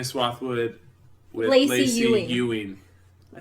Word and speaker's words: Ewing: Ewing.